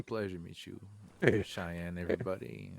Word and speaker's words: Cheyenne: And then that Cyan, I don't pronounce his name right. He gets upset about it. He's a ranch hand and he's on security with me. Yes, it's Cheyenne.